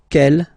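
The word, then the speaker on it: quel: for the phonetics okay the way to pronounce them Kell masculine form here will be pronounced exactly as the feminine form here G so only one sound okay and then the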